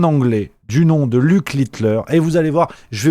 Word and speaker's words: Littler: Alors Luc Litler, attention, voilà, Litler, rien à voir avec l'homme qui a révolutionné l'histoire de la moustache. Ça s'écrit L I D L E R.